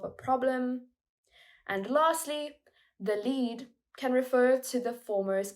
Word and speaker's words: lead: The answer is lead, with the E sound like red.